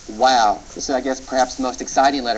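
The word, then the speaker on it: Waw: to pronounce it or call it wow and pronounce it like a w throughout basics of Biblical Hebrew in these lectures we prefer the W sound or the wow form of the letter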